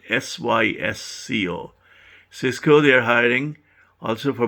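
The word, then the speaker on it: Sysco: hire about 150 people number seven cisco this is spelled s-y-s-c-o cisco they are hiring also for more than more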